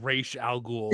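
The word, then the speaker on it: Ra's al Ghul: No, it's pronounced R al Ghoul, but nobody in this movie, nobody in this movie, including the the Arabs, say it correctly.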